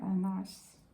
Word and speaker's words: Annas: Annas. Annas. 별로 중요한 사람도 아니니까 그냥 발음 좀 틀려도 괜찮지만은 그래도 발음은 정확하게 하는 게 좋아요.